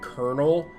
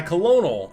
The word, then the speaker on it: colonel: to relay some information it is very weird that Colonel is spelled co L o ne L it's still the weirdest word for me to have to pronounce because I looking at my my colonal and I'm like no it's Colonel needed to relay some